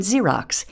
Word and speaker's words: Xerox: In more advanced words, X can say Z, as in xylophone and Xerox in the initial position.